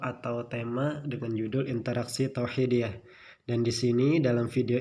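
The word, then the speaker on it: توحيدية: Tauhidiyah, tulisannya tauhidiyah tapi bacanya tauhidiyah karena ada tak marbutah, merupakan pengakuan terhadap eksistensi atau keberadaan Allah Subhanahu wa Ta'ala sebagai Tuhan yang Maha Esa.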